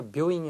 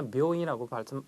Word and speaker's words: 病院: 묘인도 마찬가지입니다. 장음이네요. 그러니까 묘인이 아니라 묘인이라고 발음하시는 거 주의해 주시고요.